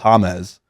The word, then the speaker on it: James: Rodriguez it says James on the back it's pronounced hamez but it's it's just says James okay so